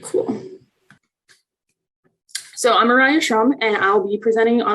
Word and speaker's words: Mariah Schrum: life and learning via personalized reciprocal teaching by mariah shroom aaron haslam bhatti and matthew gamale again sorry for mispronouncing your names awesome i think uh right